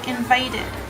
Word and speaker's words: invited: and then the D, invited. When we see words that have the ED at the end, I want us to make sure that we pronounce the ED.